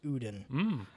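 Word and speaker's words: Ouden: this was originally called the uden triple o-u-d-e-n it's pronounced odin ancient west flanders brown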